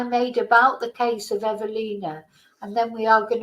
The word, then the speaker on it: Ewelina: at was you Alina I shouldn't say Ulin it's evina it's a w but it's pronounced a v evina sasac now some of